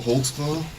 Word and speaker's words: Holtzclaw: I can How do you say your name? Holtzclaw. Holtzclaw. What is that? It's a German.